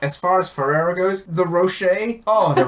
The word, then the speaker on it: Ferrero: That's how the professional enthusiast pronounce it. Ferrero.